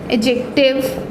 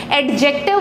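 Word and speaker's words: adjective: है तो कभी भी ए और जे के बीच का ये जो डी होता है वो साइलेंट होता है और हम इसे प्रोनाउंस नहीं करते हैं, हम इसे प्रोनाउंस नहीं करते हैं।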